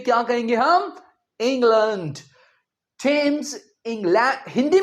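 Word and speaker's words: Thames: टेम्स England Hindi में हम कहेंगे England. But when it comes to English. यह क्या है? इंग्लैंड। थम्स इंग्लैंड में एक प्रसिद्ध नदी है। सो थेम्स नहीं टेम्स कहेंगे।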